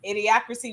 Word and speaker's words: Idiocracy: Idiocracy, wasn't that how it's pronounced? Yeah.